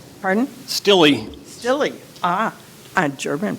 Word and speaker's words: Steele: Miss Nadia El and um Mr Randy Steele stey pardon Sly Sly ah a German pronunciation well stilla but you know Sly okay all right we